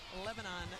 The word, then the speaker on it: Lebanon: Jasmine Hassel out of Wilson Central High School in Lebanon, Tennessee. Did I pronounce that right, Coach Pack? Lebanon is correct.